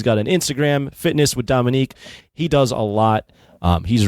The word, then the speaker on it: Dominique: Yep, Dominique. A lot of people say Dominic, but it's Dominique. Dominique. There's a little extra on the end there.